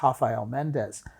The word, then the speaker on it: Rafael Mendes: His name is spelled Rafael, pronounced in Portuguese Rafael Mendes.